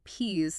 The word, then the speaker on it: peas: Third, the pronunciation traps specifically that you absolutely need that voiced ziz sound for the plural peas to distinguish it from peace.